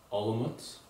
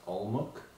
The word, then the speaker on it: Olomouc: This is a city called Olomouc. I previously pronounced it as Olomouc, which is incorrect.